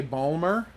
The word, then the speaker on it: Baltimore: to me being from Baltimore. But I don't say Balmer, so you know I'm not actually from Baltimore. Balmer? That's how they pronounce the name of their city.